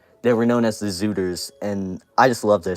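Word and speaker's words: Szuters: of them and also zooters is spelled root it's s-z-u-t-e-r-s and not just like Z I don't know that's weird weird pronunciation can you make a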